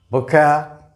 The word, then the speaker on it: vocabulary: Vocabulary. Vocabulary. Vocabulary. The stress is on the second syllable.